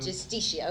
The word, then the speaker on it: Justicia: How do you pronounce it? Justicia, okay.